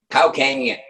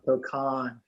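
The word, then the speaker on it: Cokan: How would you say that in California? Wait, spell it again. C-O-K-A-N. Kokan. I'm from the South. We're putting, Cocaine. we're cocaine. Yeah, that's Cocaine. not it. Yeah, don't brutalize the name here. Kokan.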